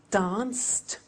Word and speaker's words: danced: Watched, danced, eliminate the E, pronounce the T. Danced, laughed, washed, and walked.